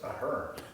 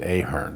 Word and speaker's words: Ahearn: Okay, so it's Ahearn. Ahearn. Okay, because somebody else said, "Oh, you're going to see John Ahearn." So Some people, my older son pronounces it Ahearn because okay.